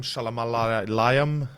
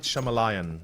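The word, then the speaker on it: Shyamalan: I I heard apparently m m sh M shalam Liam um yes oh my God I hate that name because I can't pronounce it properly sorry M shamalan okay there you go uh I I I'm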